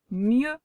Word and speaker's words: mieux: Dans ce mot-là, tu vois qu'ici aussi, tu as un E avec un U qui font E et un X ici, hop, qu'on n'entend pas. Ce mot c'est mieux. Mieux s'écrit ici avec un E et un U et un X qu'on n'entend pas, ne l'oublie pas.